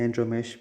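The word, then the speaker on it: Andromache: एंड्रोमेच, इसे एंड्रोमेश भी प्रोनाउंस किया जाता है।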